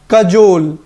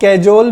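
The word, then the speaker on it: cajole: Word है कजोल, इसको बहुत सारे लोग कैजोल भी पढ़ते हैं, बट ये कैजोल नहीं है, इसका प्रोनाउंसिएशन क्या है, कजोल।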